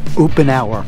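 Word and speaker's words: Uponor: best kind of piping OOP an hour yes you heard it it's spelt the same as up on ER OOP an hour is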